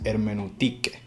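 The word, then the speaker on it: ἑρμηνευτική: ciencia o arte eh la pronunciación originaria de la palabra hermenéutica es hermeneutique entonces podemos entender que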